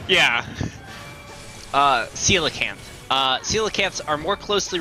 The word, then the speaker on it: coelacanth: hell words were saying why is it got a soft sea and pronounced like that yeah uh coelacanth uh coelacanths are more